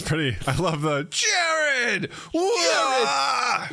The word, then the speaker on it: Jarryd: Jarryd. It's spelled wrong. It is. Jarrod, but what are you Yeah. gonna do? It still sounds the same.